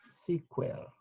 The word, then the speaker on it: SQL: It's pronounced like this. Pronounced sequel. Okay. That's how to pronounce it, sequel or sequel. We call it SQL or sequel, okay?